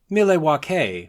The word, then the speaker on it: Milwaukee: all of us that the proper pronunciation of the city of Milwaukee, Wisconsin is Milwaukee, which is Algonquin for the good land.